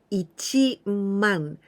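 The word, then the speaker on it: 一万: it's quite easy but you must know that 10 000 we don't say sen we never say like that because this is the one the new unit ichimong 10 000 it is ichi man this is very difficult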